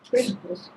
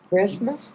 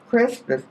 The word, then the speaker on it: Crispus: Crispus. Christmas? Crispus. Crispus. I'd pronounce it Cyprus, but Crispus, the leader of the synagogue,